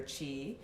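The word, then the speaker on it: qi: you aligned your energy more aligned to your chi um when we speak about you we've talked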